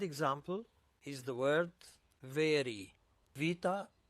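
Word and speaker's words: ⲃ: The second one is Vita, Vita, and this one is pronounced as V or B, generally as V, but when it's the last letter in the word, it's pronounced as B.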